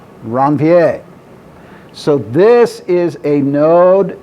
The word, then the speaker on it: Ranvier: the node of and do not do the american thing and say a word that rhymes with reindeer that's a la francaise see my french reference before if i was dr bassan here i would have no problem with the pronunciation but how would you pronounce that r word a la francais ranvier so this is a